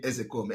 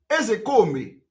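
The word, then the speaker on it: Ozekhome: I'm coming from oh when I want to pronounce I pronounce it the way Igbo people are pronouncing it I'm a typical Igbo man the real name of Mike ezekome is Mike ezekomi Mike that is the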